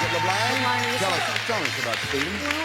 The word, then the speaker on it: LeBlanc: You pronounce it LeBlanc?